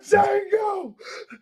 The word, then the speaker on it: Django: you had your hand on my ch the Jango you black son of a